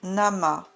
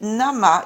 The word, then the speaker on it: Namah: Chantez Om Namah Shivaya afin de raviver votre paix.